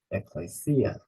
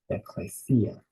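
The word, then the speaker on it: ἐκκλησία: here actually the pronunciation make sure to put the emphasis on the final syllable Ecclesia eclassia Ecclesia the final word is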